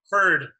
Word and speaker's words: Feurd: name with me man bird bird yeah I'm like it rhymes with turd how long have you